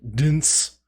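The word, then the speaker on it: DNCE: I have little to no knowledge of Jonas Brothers, except one of them is in Dance. I think it's just pronounced dance, but it's spelled Dance.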